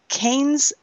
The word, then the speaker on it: Cannes: agencies, and he created Cannes? I don't know. Is this the right hello? I talk better than I read. For God's sake, it's Cannes. It's the Cannes Film Festival.